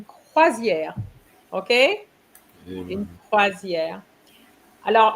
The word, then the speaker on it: croisière: Croisière, you pronounce it correctly, but I guess you're not probably used to reading it. So you said croisière. Croisière, you can say it now with confidence.